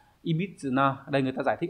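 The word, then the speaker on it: 歪: thì đây nó dùng dạng tính từ đọc là EBIT nhá ibit đây người ta giải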